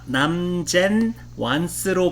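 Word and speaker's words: 南煎丸子: 중국어 발음은 남젠 완스이거든요. 네네. 근데 그게 어찌어찌 하다가 난자로 우리말화 된 거예요. 그렇군요. 저 무슨 그게 한자로 맞아. 된 단어인 줄 알았는데 아니었군요. 음역이었군요. 남전 환자가 남젠 완스로 발음되던 게 우리나라에 와서 난자 완스가 된 건데요.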